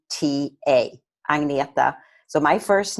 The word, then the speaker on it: Agneta: my first name is a little tricky to pronounce it's easier when you see it spelled it's a G n e ta Agnetha so my first name at life and wellness